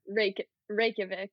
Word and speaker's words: Reykjavik: Reykjavik.